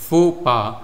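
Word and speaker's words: faux pas: This word is pronounced एज फोपा a social blunder और mistake.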